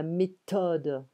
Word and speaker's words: méthode: Be careful of the pronunciation, th. There's no th in French. We have la méthode. H is often neglected. It's often ignored.